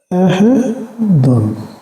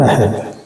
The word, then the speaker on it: أحد: How you can teach as ahead since there is a double page on that? So its pronunciation ahadun, not ahead.